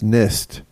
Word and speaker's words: NIST: the title is nist It's not an is as I've been told it's nist drafts guidelines for coping